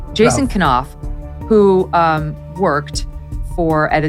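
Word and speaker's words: Knauf: Sydney for the Invictus Games, Jason, is it Kenoff? Is that how you pronounce his name? Kof. Jason Koff, who um worked for at for a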